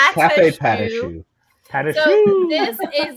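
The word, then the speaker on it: Café Patachou: It's Cafe Patashu.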